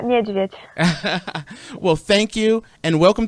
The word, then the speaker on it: Nieszwiedz: We have Invicta Star uh uh Anisca Nijovich, which I'm going to need your help. An uh Anka, how do you say your name properly? It's Agneska Nvich.